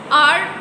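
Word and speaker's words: hour: आर वैसे तो एच से शुरू हो रहा है, एच इज़ कंसोनेंट, तो हम कंसोनेंट लेटर के साथ एन नहीं लगाते. लेकिन यहाँ पे चूँकि एच साइलेंट है और यहाँ पे हमें साउंड मिल रहा है वॉवल साउंड, तो that's why वी आर using N with आर.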